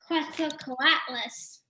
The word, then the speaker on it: Quetzalcoatlus: Anyone can jump, either of you can jump in how big was uh-oh, I don't know how to pronounce this, Quetzalcoatlus baby? Quetzalcoatlus.